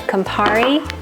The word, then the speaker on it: Campari: throw my tomatoes and it's two pounds of Campari that's how you say it and we're